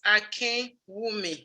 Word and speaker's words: Akinwumi: pronounce your last name my last name is pronounced akin women akin akin exactly so professor tammy akin